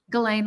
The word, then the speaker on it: Ghislaine: Ghislaine, let's just say Ghislaine. Okay, Ghislaine. Yeah, it's just like Elaine with a G in front of it.